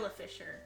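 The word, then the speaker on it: Isla Fisher: Isa Isa Fisher, that's how you say her name.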